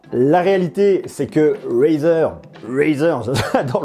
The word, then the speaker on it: Razer: réalité c'est que razer razer prononcé comme ça très à l'américaine razer est là pour